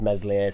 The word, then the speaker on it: Meslier: I think if Meslier Silent S stays in, I actually think Mez would be alright if he stayed.